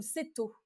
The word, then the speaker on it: keto: Alors, j'ai peut-être que je vais me tromper dans la prononciation, c'est «Débuter le régime keto» ou «Céto»?